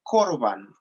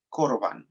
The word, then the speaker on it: corbán: La palabra es fácil de decir, corbán, C-O-R-B-A-N, acento en la A, corbán, es así de fácil.